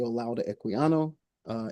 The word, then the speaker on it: Olaudah Equiano: And um Can you spell that? Um Olaudah O L A U D A H uh Equiano E Q U I A N O Sorry, I didn't